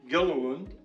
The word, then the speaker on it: Gilliland: it's my honor to introduce gilland did I get all the syllables you did all right who's the